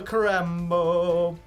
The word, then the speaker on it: Crambo: Oh, a Crambo. It rhymes with Rambo.